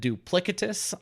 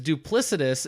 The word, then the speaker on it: duplicitous: week I believe that I said duplicatus on the podcast I thought you did that intentionally no it is duplicitous it's a word that I read more than I hear and my brain always pronounced is it duplicatus but I'm correcting it and I'm trying to unlearn and cement here that it is duplicitous duplicitous idiot I straight